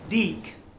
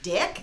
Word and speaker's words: DiC: I know that one it's pronounced dick dick dick dick okay I see what you're doing and I love it but no it's actually deke and they're pretty sensitive